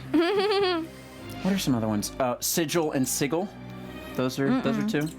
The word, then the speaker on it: Sigil: in the center of the wheel, which is pronounced sigil. Oh, is that? Yep. That's That- it is wow, that's a specifically nice, pronounced sigil.